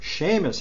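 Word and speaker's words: Seamus Heaney: but same as Haney's am I pronounce his name correctly seen Shane Sheamus is an SH Shamus handy that famous Irish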